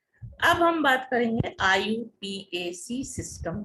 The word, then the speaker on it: IUPAC: This is the IUPAC, and its present form, the system is known as IUPAC system, pronounced as IUPAC.